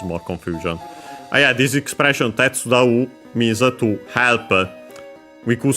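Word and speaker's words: 手伝う: Weirdly enough that the voicing gets moved, but it is like this.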